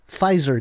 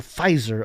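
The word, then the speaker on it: Pfizer: He said the silent P gave the word fizer a luxurious feel reminiscent of the silent H in Hermes.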